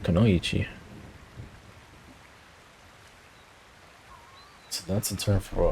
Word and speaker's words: Kunoichi: Let me see how they pronounce it. I want to say it right. I think it's this Kanochi. Kunoichi. Oh no, this guy said Kunoichi. Alright, so that's how you pronounce it, Kunoichi.